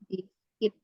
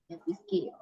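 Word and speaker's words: biscuit: UK itu namanya biskuit biskuit cara bacanya itu biskuit G biskit biskit ya kemudian ada kentang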